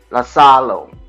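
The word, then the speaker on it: Iisalo: Oh, you pronounce it as Tomas. Lasalo.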